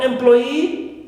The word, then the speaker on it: employee: Also for employee, right, we stress ploy, clear, second syllable, and not e, which is normally, right, that suffix.